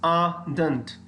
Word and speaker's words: ardent: Is it ardent? No, look at the pronunciation. It is ardent. Ardent. Dent, dentist वाला नहीं होगा, और ए के बाद जो आर है वो आर pronounce नहीं करेंगे. That is not pronounced. That is silent.